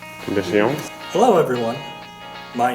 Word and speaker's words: Bendición: Try to pronounce it as if you were speaking Japanese. Bendición. So it's very close. So Bendición. So this is called Bendición.